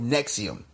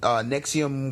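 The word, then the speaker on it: NXIVM: as a cult called nexium and nexium is spelled in x IVM like roman numerals but it's this this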